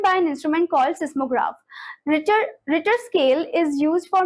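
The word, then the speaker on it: Richter: इसे रिचर scale नहीं बोलेंगे। इसको क्या प्रोनाउंस करेंगे हम? रिटर scale.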